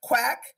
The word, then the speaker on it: QUAC: Quack, for our visitors, is spelled Q-U-A-C.